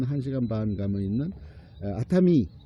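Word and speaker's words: 熱海: 그 온천 지역 중에 도쿄 지역에서 한 한시간 반면 있는 아타미 열해라고 써 놓고선 아타미라고 읽어요.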